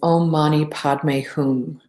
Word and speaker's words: Om Mani Padme Hum: And again, the pronunciation is Om Mani Padme Hum.